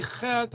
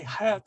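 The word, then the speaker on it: חֵית: If you say chet, I'm not going to give you a hard time. If you say het, that's okay too.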